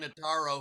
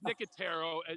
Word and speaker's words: Nicotero: an audience name here named frank notaro who i believe was the host of of the show and not freaking no no no it's nicotero it's not taking care